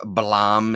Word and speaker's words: Blame: I read the next volume of Blam, apparently is how you pronounce it, but I'm going to say Blame.